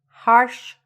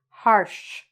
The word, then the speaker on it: harsh: Harsh criticism. That's a little bit tricky, that word. Harsh. Harsh. Okay? So there's a sh sound at the end.